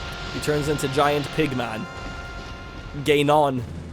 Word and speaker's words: Ganon: Ganon. How is that pronunciation for you pronunciation heads?